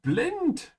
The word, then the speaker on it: blind: how it looks V blint we are blind two words that look exactly the same but are pronounced quite differently so put the effort in and say blind instead of saying it in English oh here we come